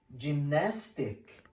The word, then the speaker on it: gymnastic: Gymnastic, gymnastic, energy, energy, gym, gym.